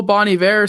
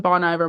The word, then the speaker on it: Bon Iver: met the drummer and I've been calling him Bon Iver my entire life and then uh Zach was like that's crazy it's Bonnie ve and I'm like who